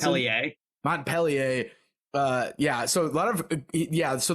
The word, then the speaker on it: Montpellier: How do you pronounce it? Montpellier.